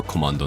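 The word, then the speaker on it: コマンド: Komanage, which is short for komando nage. Komando is Japanese pronunciation of command.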